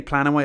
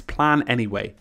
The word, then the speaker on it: Planyway: be able to say plan and wait I was gonna say plan anyway oh my god I'm getting it wrong it's plan anyway plan anyway it's really hard to pronounce but I just could